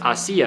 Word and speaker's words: hacía: So it's hacía. So you have to pronounce it with the stress on that I.